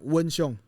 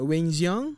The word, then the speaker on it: Wen Xiong: Now, Wen Xiong, it's my Chinese name, right? So if you mispronounce it, Weng Xiang, something.